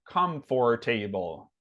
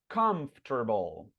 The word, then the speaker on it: comfortable: Um, if English was a phonetic language, you would read this word as comfortable, right? Because those are the sounds that are, you see the letters that are there, right? Come for table. And that's not how it sounds at all. It sounds like this. Comfortable. Comfortable. Comfortable.